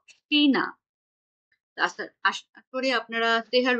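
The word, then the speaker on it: China: আবার শব্দের শুরুতে যখন সে তেহা বসবে তখনও এটার উচ্চারণ স এর মতোই হবে। যেমন এটাকে আমরা বলবো সেমি, এবং এটাকে বলবো সিনা।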